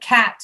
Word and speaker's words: cat: Cat, not kit, cat. Cat. There. That was beautiful. That was beautiful. When you open your mouth way down, cat, cat, cat.